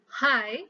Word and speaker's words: high: Next, dua kata berikutnya, high dan knife adalah silent, ada mengandung unsur silent letter, yaitu high, silent letter G, dan knife itu silent letternya adalah K.